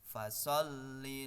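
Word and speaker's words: فَصَلِّ: Nah, pada awal kata atau kalimat di ayat yang kedua yaitu disebutkan fasolli, ya, lam berharokat tasdid, maka harus ada penekanan, namun tidak usah ditahan ya, karena ini bukan termasuk bacaan hunnah.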